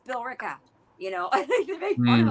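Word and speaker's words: Billerica: They're like Bill Erica. I'm like it's Bill Ricka.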